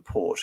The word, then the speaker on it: Porte: And in 1805, reluctantly, the Ottoman Sublime Porte, again, Sublime Porte, port, literally the French iteration of gate, where the edicts of the Ottoman Sultan are pronounced.